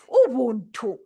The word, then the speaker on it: Ubuntu: And I've pronounced it in how we Africans would pronounce it, especially in Zambia. I'm a Tonga from southern province of Zambia. So I would say Ubuntu, which is fundamental.